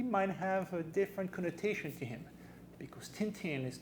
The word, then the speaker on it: Tintin: Do you know this guy: Tintin as he is known in English (pronounced Tintin in France or Belgium)?